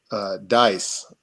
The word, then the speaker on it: Deus: But the other side of the family, uh, their name was Dice, or it's spelled Deus.